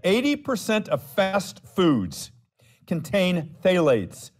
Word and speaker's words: phthalates: A new study has found that 80% of fast foods contain phthalates, spelled with a silent P, P-T-H-A-L-A-T-E-S, phthalates, chemicals used in softening plastics and thought to cause damage to this E-initialed body system.